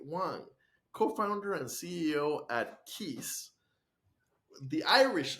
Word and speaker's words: Cios: with me Terry Wang co-founder and CEO at Keys the Irish spelling CIO pronounced Keys uh we'll definitely want to hear why that